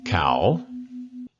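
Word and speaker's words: เขา: say they in Thai cow is a rising tone how how um means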